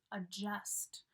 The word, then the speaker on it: adjust: Adjust. We don't really pronounce the D here.